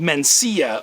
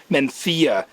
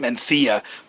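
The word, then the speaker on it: Mencía: there's a grape called mencia or if you're from spain it's pronounced menthia so if you really want to be a wine snob you'd pronounce it menthia but it's an indigenous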